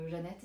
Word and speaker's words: Zanete: en tout cas donc ça se prononce Jeanette d'après ce que j'ai compris alors que ça s'écrit Zanette bon bon Janette NZ qui